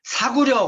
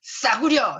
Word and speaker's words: 싸구려: 쌀, 절대 발음 안 된다는 거 알고 제가 시킨 거예요. 싸구려, 절대 안 되죠. 한번 해보세요. Say again, please. 싸구려, 되시나요? 싸구려. 오, 대박. 되게 의도하지 않으면 절대 되지 않는 대구님들의 발음.